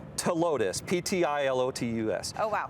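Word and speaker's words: Ptilotus: heat okay it's called to Lotus p-t-i-l-o-t-u-s oh wow but the p is silent uh is it related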